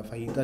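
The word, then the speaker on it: fajita: फहीता जो है, अच्छा इसको फजीता नहीं बोलते, इसको फहीता बोलते हैं, नहीं जे साइलेंट है इसका, ये असल में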